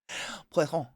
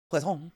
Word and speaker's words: poisson: Like, if you actually listen to a French person say fish, it's poisson. Poisson.